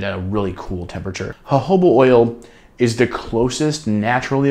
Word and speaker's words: jojoba: It's spelled Jojoba, but it's jojoba oil.